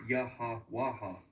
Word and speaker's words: Yahweh: is YH wh and that's where we get Yahweh or well there's no vowels in Hebrew so it's yaha waha now we have the